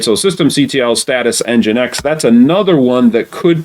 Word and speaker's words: nginx: status and then nginx and gin x we pronounce it nginx all right so systemctl status engine x that's another one that could potentially be installed